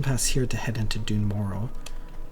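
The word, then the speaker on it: Dun Morogh: Where we have a mountain pass here to head into Dune Mororrow, which I've always pronounced as Dunro, but it's allegedly wrong.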